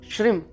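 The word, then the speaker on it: श्रीं: सकते तो सब श्री श्रम श्री के आगे जो अनुस्वार रखता है ऊपर अंग की बिंदी जिसको हम बोलते हैं लेकिन यंग की बिंदी नहीं है संस्कृत में इसका उच्चारण म से आता है तो श्रीम का आप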